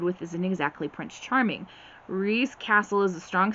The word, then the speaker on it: Rhys: Now his name is spelled R-H-Y-S, just like the shortened version of Rhysand from ACOTAR and ACOWAR and ACOMAF and all those books. Turns out Reese has a secret, something